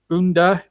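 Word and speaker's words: Ünder: Marco Brighton, Kenichi Eniacho, Unda, it's spelled under, but Unda, I think is how you pronounce it, and Chowdhury make up the substitutes.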